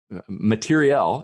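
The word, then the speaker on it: matériel: And, it was a technological or an materiel, as they say in the French pronunciation in war context.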